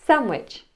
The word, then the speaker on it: sandwich: Christmas or the word sandwich I don't pronounce that D try this sentence for